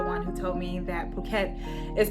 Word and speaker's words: Phuket: he's actually the one who told me that Phuket is pronounced Phuket and not Phuket then there was